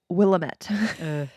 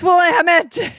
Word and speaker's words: Willamette: an Anne Rule book, and the narrator kept pronouncing it Willamette. And so I was screaming at the audiobook, yes, it's Willamette.